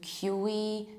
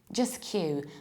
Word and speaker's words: queue: Just Q. Both in British and American accent is also Q. So the word itself sounds like a letter Q, and this is how we pronounce it.